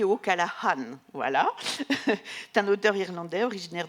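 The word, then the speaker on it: O'Callaghan: ce matin avec ou callaga alors on prononce pas le G il m'a expliqué tout à l'heure on dit au Calahan voilà un auteur irlandais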